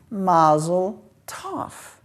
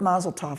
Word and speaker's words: Mazel Tov: So Mazarot is the word from which we get Mazel Tov.